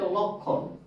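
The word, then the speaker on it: লক্ষ্মণ: তার উচ্চারণ হবে না এটা উচ্চারণ হচ্ছে লক্ষণ আমি ক্রিয় এর সাথে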